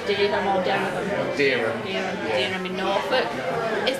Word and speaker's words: Dereham: Is it pronounced Dereham or Dereham?